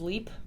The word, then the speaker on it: LEAP: And then finally, the Large Area Burst Polarimeter is LEAP. The B is silent. There's no B in the acronym.